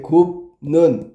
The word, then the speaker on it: 굽는: 굽는 가져볼게. 굽는 얘가 굽는 이렇게 된다 그랬잖아. 발음하면 그지? 그러면 달라진게 뭐예요? 비읍이 니은 때문에 니은 얘의 영향을 받아서 미음으로 바뀐 거야.